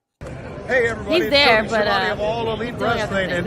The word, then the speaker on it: Schiavone: They were interviewed, of course, by Tony Schiavone. Tony Schiavone. Cue it up, friend. Tony Schiavone. Okay, I guess not. Never mind. There? Hey everybody, he's there, Tony Schiavone of All Elite Wrestling, and this is True